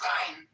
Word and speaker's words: Ayn: It's ein. Ayn Rand.